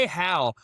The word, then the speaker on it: Hal: So, it's Hal, like H A L.